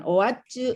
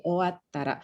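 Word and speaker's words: 終わったら: Jadi bukan owacu ya, tapi owattara.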